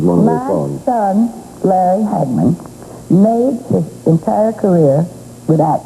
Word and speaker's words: Hagman: Cuz Hegman in Texas, we used to pronounce it Hegman. Now it's Hagman.